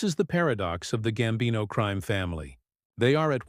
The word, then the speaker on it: Gambino: The Gambino crime family, pronounced Gambino, is an Italian-American mafia crime family,